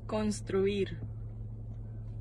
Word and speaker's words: construir: Construir. Oh, construct. So say again. Construir. Spell it. C-O-N-S-T-R-U-I-R.